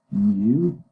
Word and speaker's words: mu: this Greek uh letter this is this is pronounced mu and mu okay okay okay and this is